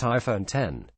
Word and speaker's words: iPhone X: It's the iPhone X, pronounced iPhone 10.